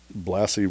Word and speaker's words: Blassie: And he would say, well, remember, Blassie rhymes with classy.